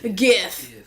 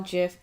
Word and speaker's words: GIF: That I And don't he know how to says pronounce it's- that, but he says it's like the peanut butter. So GIF. Peanut butter jelly Oh, time. GIF.